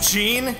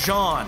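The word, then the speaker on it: Jean: are distracted by our friends screams of agony gene you're a genius ha thank you me but it's pronounced john oh damn it jaeger now you've got me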